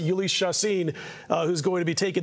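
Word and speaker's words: Jhoulys Chacín: It'll be Ulys Chacin, and yes, you pronounce it Ulys Chacin, who's going to be taking the mound for the Rockies.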